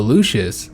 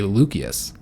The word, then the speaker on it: Lucius: Apparently the C is always pronounced like with the the K sound. So Lucius is actually Lucius.